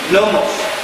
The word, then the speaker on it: gnomo: Un detalle mínimo, pero si no pronuncian gnomos, es gnomo directamente. La G se pronuncia como ñ con la mitad de la palabra, no al comienzo.